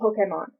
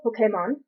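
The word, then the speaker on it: Pokémon: not create the name Pokemon okay mom the accent is on the EE you emphasized the e it's short for well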